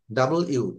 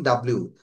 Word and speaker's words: W: T, আচ্ছা, ইউ, পি, বি, P, ডাবল ইউ, নট ডাবল, ডাব্লিউ। W, হ্যাঁ, আমাদের অনেকে আমরা বলি ডাব্লিউ, no, actually W, pronunciation হবে ডাবল ইউ, ডাবল ইউ, ডাবল ইউ।